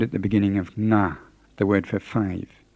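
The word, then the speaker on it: ငါး: at the beginning of na the word for five we do have this sound in english we use it in words like sing and long but in english we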